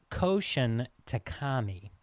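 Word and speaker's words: Koushun Takami: the source of Battle Royale, which begins with Koshin Takami. That's what I'm going to say his name is. That was perfect, actually. Wonderful. So, Koshin Takami, a little history of him.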